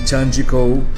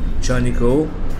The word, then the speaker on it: Chanico: Today, video is about me traveling from my hotel, Chanico, or I call it Chanjiko, but it's not pronounced G, Chanico, to downtown, to the big hotel, very expensive hotel in shopping plaza.